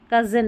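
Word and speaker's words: cousin: जैसे यहां पर देखें कजिन में है। कजिन अ का साउंड आ रहा है ओ यू के लिए अ की ध्वनि कजिन में।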